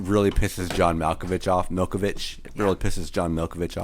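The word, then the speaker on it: Malkovich: pisses John movich off Milkovich it really pisses John Milkovich off yeah say his name right Abe sorry yeah Abe it's Milkovich uh and you know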